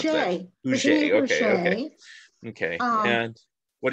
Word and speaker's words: Huger: And we mentioned Nell, and then there's Virginia, how do you pronounce Huger. That? Huger.